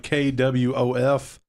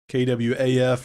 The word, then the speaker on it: quaff: It's you could say it like KWOF, KWAF, or KWAWF. It sounds like Quaff.